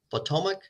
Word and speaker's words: Potomac: name of the company potomac just like the river potomac river potomac industrial coating and